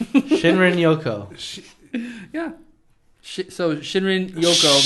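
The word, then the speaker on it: shinrin-yoku: the japanese yeah like should i try to pronounce this or yeah shinrin yoko shinrin yoko yeah sh so shinrin yoko means bathing in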